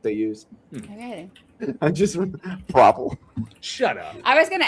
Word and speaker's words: Provel: And you pronounced it correct, Leo. What is it? Oh, Provel. Provel.